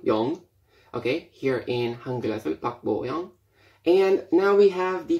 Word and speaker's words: Park Bo-young: So, as you can see here, we have the name in English, Park, which is pronounced Park Bo Young, not Young, Young. Okay, here in Hangul, Park Bo Young.